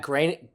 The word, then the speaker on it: Groening: Oh, and I had a friend who dated Matt Groening.